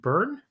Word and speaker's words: Byrne: And now we have, I'm going to take a stab at your last name, Byrne? Yeah, very good. It's Irish. So okay. it's the Y is silent.